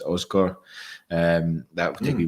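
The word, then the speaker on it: Aasgaard: Stu1872 saying, if anyone's interested, Asgard, as you've been saying, it is pronounced Osgar.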